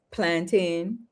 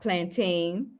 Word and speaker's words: plantain: head rice and peas plantin not plantain like how they say it here.